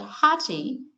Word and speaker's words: Hathi: The second H is silent because I understand that Hati is supposed to be the Hindu word for elephant, and there is the